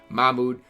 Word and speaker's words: Mahmoud: ralph does have a or mahmoud i pronounced his name wrong i knew i did because i recorded a video last year and people corrected me mahmood uh abdulrove has his